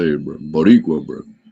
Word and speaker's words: Boricua: Boricua, bro.